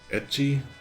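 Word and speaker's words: ecchi: Etchi is um the English word H is how they pronounce eti and the the letter H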